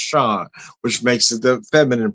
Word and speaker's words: Chaude: So, so I actually looked up cuz I would have pronounced that show. So, I had to look up the proper French pronunciation because of the e at the end is pronounced Shod, which makes it the feminine pronunciation.